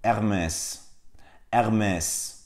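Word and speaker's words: Hermès: gerektiğine dair bir göstergedir fransızcadaki hiçbir zaman telaffuz edilmez H sesi Fransızca'da yoktur r harfi içinde şunu söyleyeyim Tıpkı Almanca'da olduğu gibi raiine arkalardan gelir Yani değil Dolayısıyla bu markanın doğru telaffuzu ermez vermez Evet Bir de bir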